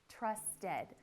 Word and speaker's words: trusted: So in order to pronounce that correctly, you need to pronounce the E, trusted.